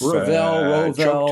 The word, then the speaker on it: Rovell: Am I pronouncing it right, Rovell? We've been to Carbones together. Yeah, We've Rovell.